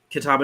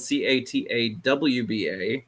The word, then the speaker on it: Catawba: announced um so if you go to um Catawba Nation on Facebook which for some reason we're